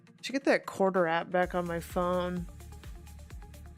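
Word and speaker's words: Quartr: I wonder if you can it called quarter. It's not spelled like spelled like the Yeah, it's Q U A R T R. They get rid of the E.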